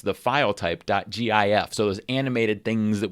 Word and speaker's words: GIF: If you agree with me, you'll select a sticker that says it's pronounced with a hard G, like the word gift.